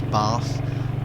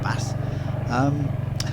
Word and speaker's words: bath: the north of England, the A's are short. In the south of England we pronounce our A's with a long A. It's Bath, not Bath, by the by.